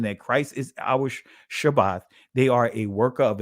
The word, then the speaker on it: Shabbat: notice what it says Shabbat why because that's the proper pronunciation of the word from a Hebrew perspective Shabbat right the Sabbath Sabbath